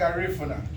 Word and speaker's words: Garifuna: You gotta say it like Lida Garifuna.